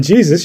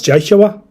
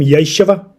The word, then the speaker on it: Yeshua: It's not even Jesus. You're pronouncing it wrong if you're a fundamentalist Christian and asking Jesus for forgiveness. You're asking the wrong guy because it's not. It's Yeshua. That's the actual name, Yeshua.